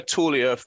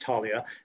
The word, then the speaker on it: Taulia: was so was this tell us where tullia or how you pronounce it where did that fit in in your technology journey certainly it's pronounced talia and and uh um